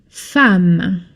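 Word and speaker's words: femme: Fam and it's pronounced fam. Fam. I know it's an e, but this is an exception.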